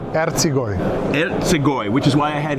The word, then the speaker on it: Ercigoj: Ercigoj, which is why I had him pronounce it first before I did.